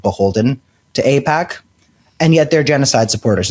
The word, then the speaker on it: AIPAC: I pronounced it incorrectly on our last episode. AIPAC, I believe it's called.